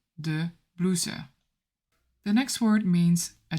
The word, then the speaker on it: blouses: And in plural, it's de blouse. De blouse. And as you can see, the plural form ends on the letter S, but you don't pronounce it. You say de blouse.